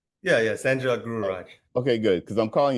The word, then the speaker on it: SanJog Gururaj: Yeah, SanJog Gururaj.